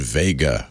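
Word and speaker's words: WEGA: always like to have you know the grand Vega remember that yeah exactly I remember the grand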